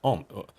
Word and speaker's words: homage: Just pretend that it doesn't have the H. Homage. Then it makes sense.